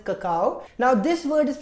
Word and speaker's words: cacao: इज ककाओ so basically if यू see this word this is pronounced as ककाओ now this word is